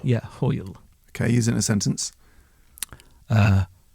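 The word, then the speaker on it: hwyl: same spelling so dessert to leave no same pronunciation but different meaning that's it right well uh this is an absolute banger hoyle hoyle yeah hoyle okay using a sentence uh i can't be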